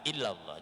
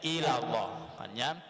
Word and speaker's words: illallah: i'rabnya kalimat la ilaha illallah. Jangan sampai di dalam illanya itu justru kita membacanya ilallah. Karena mungkin dari saking mudahnya kita membaca sehingga kita tak terpikir membaca illah menjadi ilah yang akhirnya berubah arti.